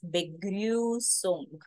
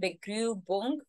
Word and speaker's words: Begrüßung: This is not B. Begrübung is a wrong pronunciation. As I said, this is a special character, the set sign, which is equivalent to double S. The sound will be the S sound.